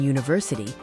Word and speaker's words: university: Cracking the code of the tricky U in university, the U makes a long U sound, which is a consonant sound.